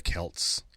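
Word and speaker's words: Celts: But the original word was a hard C.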